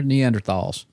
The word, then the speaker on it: Neanderthal: The H is silent because that's a German word. I'm going I'm not Hitler. They're Neanderthalss.